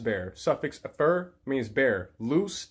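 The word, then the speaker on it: lux: suffix fur means bear loose Lu x that is the Latin word for light Lu Zhi is the Spanish word for light but they're both pronounced loose so Lucifer is the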